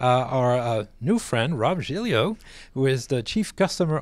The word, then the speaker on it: Giglio: the cube uh our uh new friend Rob jilo who is the chief customer officer at canva